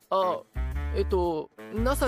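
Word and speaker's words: 星空: あ、いえ、星空と書いて NASA と言います。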